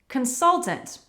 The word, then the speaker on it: consultants: to pronounce next consultants Consultants, it's not such a difficult one, but we need to stress the second syllable consultants customer service remember